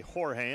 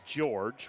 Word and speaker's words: Jorge: I heard somebody say Jorge and I went back and double checked the pronunciation even though it was spelled J O R G. Goes by George for the last name.